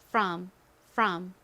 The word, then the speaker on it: from: 그래서 한국식으로는 프롬이라고 했고요 실제 발음은이 오가 살짝 어에 가깝게 발음이 돼서 From from 이렇게 발음이납니다 따라해 보세요 from 좋습니다